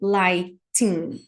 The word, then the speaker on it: lighting: de emergência emergency lighting quando eu falo esse lighting aqui eu não pronuncio esse G então lighting lighting e a gente tem